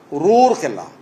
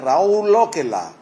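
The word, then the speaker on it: Raurkela: CU कहले क नुह राउरकेला कौन थी ROUR रोर केला ताकू आम कहलु रे राउरकेला RAUR से भाया सारा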